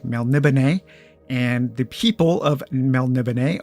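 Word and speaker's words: Melniboné: an older way that I used to say it which was melnimony but um however you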